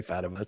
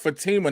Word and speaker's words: Fatima: Her name is pronounced Fatima, not Fatima.